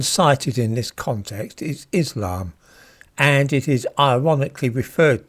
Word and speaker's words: Islam: In the word Islam, the letters sin and lam are slurred together to make the sl sound. It's in Islam.